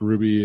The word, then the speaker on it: RWBY: of it's spelled out RWBY I'm sure it's pronounced Ruby it's a americanmade Japanese animation okay it's OD